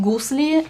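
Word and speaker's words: gusli: resist to feature it it's called goose leaf and it's spelled GU s Li and basically it's the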